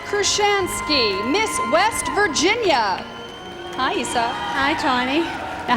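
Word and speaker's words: Eisa: right what did you because it's spelled e-i-s-a and i said it right so how did you tell everybody actually they've been doing pretty well most of them guessed issa right off the bat they did yes i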